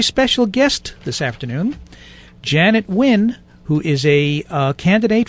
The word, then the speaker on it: Nguyen: when you pronounce it you have the n and the g silent so you really just pronouncing the u n uh there you go